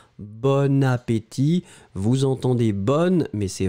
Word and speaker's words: bon appétit: un appétit c'est masculin l'adjectif est bon mais on fait la connexion donc on prononce bonne appétit vous entendez bonne mais